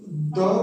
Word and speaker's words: the: Letter हमारा vowel मिलेगा तो हम द प्रोनाउंसिएशन नहीं करेंगे, तब हम दी प्रोनाउंसिएशन करेंगे। द को तब हम दी प्रोनाउंसिएशन करेंगे। जैसे अगर हम यहाँ लिख दे द, तो ये हमारा द प्रोनाउंसिएशन नहीं होगा बल्कि हमारा दी प्रोनाउंसिएशन होगा। और अगर हम द का इस्तेमाल किसी कंसोनेंट के सामने करते हैं, द कपल, तो हम इसको द को दी नहीं पढ़ेंगे, द को हम द ही पढ़ेंगे।